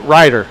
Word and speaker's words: Ryder: One week it's Ryder, next week it's Reeder, next week it's Ritter, so it's Ryder.